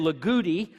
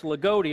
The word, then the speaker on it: Loogootee: not from Indiana you don't know how to pronounce loogootee because it's LOL gooo ttee and everybody wants to sail agouti and the all hear from there it's loogootee it's just like if you're from Brazil in